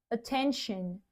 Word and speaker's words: attention: T i o n a gente fala shan. Shan. Todas as palavras com t i o n. Shan no final. Attention.